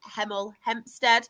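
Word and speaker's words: Hemel Hempstead: The top of the table is Heml Hempstead. I have to make sure I pronounce it slow to pronounce my H's or it's got it spot on.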